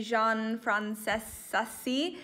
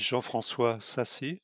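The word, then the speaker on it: Jean-François Sassi: be jean frances sussy i've definitely mispronounced that but i will just give you uh the chance and opportunity to introduce yourself now yeah actually no problem beatrice it's quite difficult to pronounce so my name is jean francois sassy from cea in france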